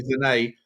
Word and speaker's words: Sané: Apparently, Bayern Munich have offered Leroy Sane or Sané, apparently. I've been saying his name wrong for a year. Leroy Sané.